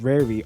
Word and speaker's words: Rari: And Rari, I think it's pronounced Rari, R-A-R-I, Rari or Rari tokens